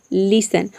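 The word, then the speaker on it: listen: For example लिसन। लिसन में आप देख रहे हैं कि टी ई एन एक साथ है, यहाँ पे टी साइलेंट है, केवल हम एल आई एस ई एन को प्रोनाउंस करते हैं तभी इसका प्रोनाउंसिएशन होता है लिसन।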